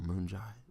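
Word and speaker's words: Moon Jae-in: kim and president moon moon Jai and I'll moonshine that's how you say his name okay okay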